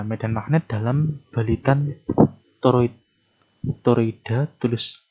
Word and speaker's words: toroid: Toroida, tulisannya toroida, bacanya toroid. Nah, kalau solenoida tadi adalah kawat yang melingkar tetapi dia berbentuk lurus.